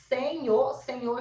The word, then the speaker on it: senhor: O NH, você não pronuncia o N e o H.